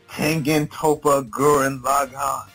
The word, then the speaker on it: Tengen Toppa Gurren Lagann: Tengen Toppa Gurren Lagann.